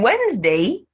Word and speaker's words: Wednesday: d in words wednesday in wednesday the first d is silent while the second e